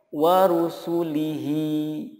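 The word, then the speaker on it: ورسله: Contoh berikutnya, warusulihi. Nah, ketika wakaf dibacanya menjadi warusulih. Warusulih, hanya disukunkan.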